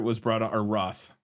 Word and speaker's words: Roth: the project kind of stalled then uh Eric rthur was brought or Roth right what I say his name you had